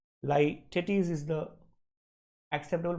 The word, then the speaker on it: litotes: The correct answer is Lytetes. Correct answer is A for apple. Many people pronounce it as litotes. Okay, that's not really the acceptable pronunciation. Lytetes is the acceptable pronunciation.